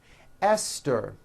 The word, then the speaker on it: Esther: spelled with a TH, they are pronounced as if they were spelled with a normal T, like that. And these words are Thomas, Thompson, Teresa, Thailand, Thames, like the river, Esther, and thyme, which is a spice.